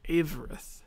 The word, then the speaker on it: Avarith: Is it Avarith or Avarith? Because I don't... Avarith. Okay, so I have been pronouncing it right.